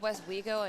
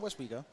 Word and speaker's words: Westwego: not Ryan you know it's West weo and not whatever you were saying here we go here we go I said West weo no you didn't West